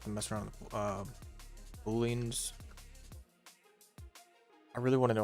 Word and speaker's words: Boolean: Not to mess around with booleans. I really want to know if I'm saying this word right. Boolean.